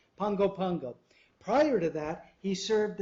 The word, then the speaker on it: Pago Pago: the tropical Medical Center in Pago Pago is that how you pronounce it Pongo Pongo Pongo Pongo they're actually two places or they just like that word so much they use it twice Pango Pango prior to that he